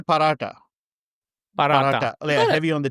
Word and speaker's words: paratha: We say paratha. We say paratha, but Australians would say paratha. Let's see if I can do it. Let me do yeah, paratha.